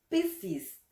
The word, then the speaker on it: Piscis: Piscis. Esta palabra, cuando la pronunciamos rápido, la primera S prácticamente desaparece.